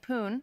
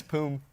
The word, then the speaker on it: Poom: Your old teammate Poon just started his first. Did I say it wrong? What is it? How do you say it? It's Poom. Poom? Poom. I'm dyslexic. My M looks like an N.